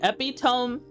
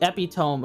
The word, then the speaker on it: epitome: It doesn't feel right to say epitome sounds like it's it feels it rolls off the tongue easier.